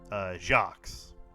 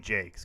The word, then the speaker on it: Jacques: So the author, his name is like what we would assume would be pronounced Jacques, based on how it's spelled. It's actually Brian Jakes because it rhymes with cakes.